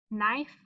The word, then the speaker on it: knife: Here's KN again. K is silent. N, I. Word is knife.